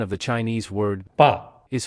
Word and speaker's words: 爸: of the Chinese word b is formed by the unvoiced initial b and the fourth tone simple final a it's pronounced B however